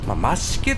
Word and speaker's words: 増毛: 走っておりますマシケってこう発音する分にはいいんすけどねあの文字で見せられるとまあもろ増毛って言ってますけど一瞬ちょっとドキッとするんですけれどもまあ